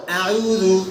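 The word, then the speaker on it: أعوذ: আউযু, এখানে কিন্তু আ জবরের উচ্চারণ আছে, উ পেশের উচ্চারণ আছে। তাহলে পেশ উচ্চারণ করার সময় কি করতে হয়? ঠোঁট, পেশের সময় ঠোঁট গোল করতে হয়।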